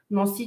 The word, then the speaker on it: Nancy: Nancy, tu prononces pas le deuxième N à l'américaine.